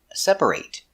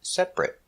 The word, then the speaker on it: separate: pronunciation of these words where they can be pronounced like a if they're a verb like separate is a verb but if it's not a verb we pronounce it separate today we're going to